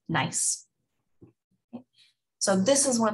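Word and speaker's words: gneiss: can become a nice spell g-n-e-i-s-s but pronounced nice so this is one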